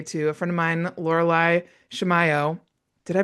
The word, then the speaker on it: Laureli Shimayo: I am so excited to introduce you all today to a friend of mine, Loralai Shimiao. Did I pronounce it right?